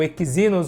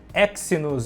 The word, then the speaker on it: Exynos: seus problemas igual o exemplos ou exynos ou exynos né dois mil e cem né como queiram aí as pessoas na na sua pronúncia né Olá Outro fator